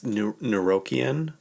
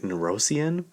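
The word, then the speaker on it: Nuyorican: And I was saying it wrong in my head, so I did a pronunciation thing. It's Neurokian. Neurokian. It's spelled Nuyorcan. No. Orican. And I was like, what is that? I was like, Neurosian? No, it's Neurokian.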